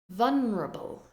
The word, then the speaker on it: vulnerable: three ver controversial controversial vulnerable vulnerable this is another word where we have a slightly reduced syllable we don't say vulnerable vulnerable and I'm stressing the first syllable vulnerable necessary I stress